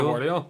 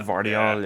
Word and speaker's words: Gvardiol: And then, I don't even know how to pronounce it. You know the way they plays for RB Leipzig? Rhyme. Yeah, Oscar Guardiola. Oh, Yeah. Gvardiol, yeah.